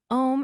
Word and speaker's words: Om: into its constituent elements, Om is nevertheless a transcription that is both correct and that corresponds to the actual pronunciation as it exists in India as well as in Tibet and Mongolia.